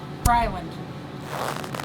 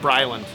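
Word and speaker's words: Briland: And sometimes it's Bryland. Just take the the H A R out completely. Just Bryland.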